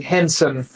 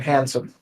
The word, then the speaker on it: Hansen: So Aaron also has a similar thing where his name is Aaron Henson, but everyone calls him Aaron Hansen. Because it's spelled Hansen.